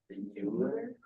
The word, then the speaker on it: Euler: Euler?